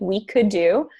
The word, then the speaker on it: WeKudo: And also, if you need WeCoulDo, you can put us on Twitter as well at WeCoulDo, which is WEKUDO, and it's pronounced like we could do.